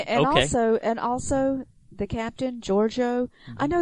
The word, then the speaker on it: Georgiou: Also, the captain, Georgiou. Mm-hmm. I know there was one time I called her Georgiou, mm-hmm. But it's Georgiou, and the ship is Shinzo. They both end with O.